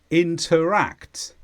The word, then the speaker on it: interact: is a verb and the stress is on act interact and this means to exchange